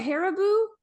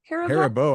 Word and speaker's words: Haribo: And to round things out, Dawn said, I think, how do you pronounce that? Haribo? Haribo, I think.